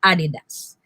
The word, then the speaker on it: adidas: it is not appropriate because the accent of the word adidas is in the first syllable that is why it should be read as adidas okay and the last